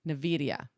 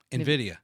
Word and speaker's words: Nvidia: a CEO from uh I'm going to say the company name wrong Nidia Nvidia thank you I would say it